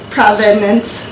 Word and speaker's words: Provenance: took Jaclyn around, and there's this place called Provenance, not the spelled like the town, but Provenance.